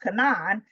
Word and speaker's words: Canaan: As we say Canaan, his name is pronounced Cananan.